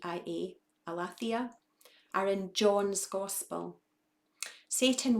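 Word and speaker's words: aletheia: testament uses of the word truth and i'll spell it for you a l e t h e i a alathia are in john's gospel satan works very hard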